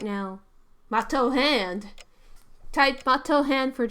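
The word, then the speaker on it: Matou: Mato. That's how you say it.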